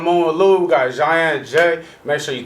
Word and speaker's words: Jian: This week on Moon with Louie, we got Jian and Jay. Make sure you tap in and stay tuned. So I said it right? Yeah, Jian and Jay, you got it.